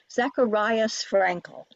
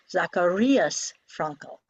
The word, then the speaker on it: Zacharias Frankel: You may hear Americans say Zacharias Frankel. That long I version does not exist in German. The long I in German is like E in meat, so it's Zacharias Frankel.